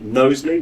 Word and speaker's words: Knowsley: Down at the end there, I've got Rachel Jones, who's the Chief Executive of One Knowsley, which is a really important thing. Did I pronounce Knowsley right?